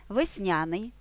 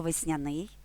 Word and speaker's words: весняний: екран упоралися перевіряємо агрономія весняний або весняний тут подвійний наголос граблі довідник загадка навчання